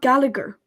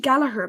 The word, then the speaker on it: Gallagher: this is very interesting in Ireland it's actually not Gallagher asga galaher it's actually galaher because the GH is a her sound it's very interesting so